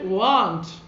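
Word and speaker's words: won't: Will থাকলে কি লিখি, WON''T, উচ্চারণটা সঠিক উচ্চারণ হচ্ছে ওয়ান্ট। অনেকে বলে থাকে যে স্যার এটা ওন্ট হবে, ইটস নট ওন্ট, এটা হচ্ছে ওয়ান্ট, WON''T, কারেক্ট প্রোনাউন্সিয়েশন হচ্ছে কি ওয়ান্ট।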